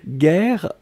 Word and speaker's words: guerre: Guerre, on écrit effectivement G-U-E-R-R-E. Donc vous avez le double R donc qui ouvre la prononciation du E. Et donc c'est la raison pour laquelle vous prononcez guerre.